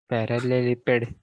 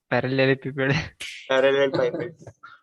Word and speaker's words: parallelepiped: पैरेललेपिपेड, पैरेललेपिपेड, पैरेललेपिपेड और पैरेललेपिपेड दोनों से पाइपेड भी बोल सकते हो, पिपेड भी बोल सकते हो।